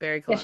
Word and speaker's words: BarryColon: Yes, BarryColon.